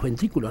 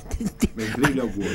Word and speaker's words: ventrílocuos: Es como esos muñecos, los ventrículos, ¿no? Ventrílocuos. Ventrículos son otra cosa.